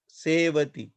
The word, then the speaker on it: sevati: Sevati here, no join letter. Therefore, we pronounce it as a long vowel. Sevati.